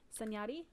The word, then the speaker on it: Sanjati: Miguel showed me Stef how do you say that? Sanjati. Mm-hmm. Like Lil Yachty? Yeah.